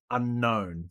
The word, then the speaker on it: Unown: Uh because surprise, surprise, we're going to be shiny hunting Unown, or U Nown, however you like to pronounce it, but Unown, the little letters.